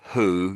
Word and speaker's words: who: I know so I think when you said who, you said that's spot on. So that often the W is silent when it's in front of an H, strangely.